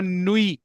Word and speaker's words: nuit: bon nuit, टी साकन है, bon nuit, bonne nuit very good. ये good नाइट के लिए bon nuit बोलते हैं।